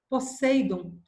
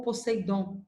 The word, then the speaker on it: Poseidon: Poseidon ou Poseidon, tanto faz a pronúncia, é irmão de Zeus e deus dos mares ou senhor das águas, tá?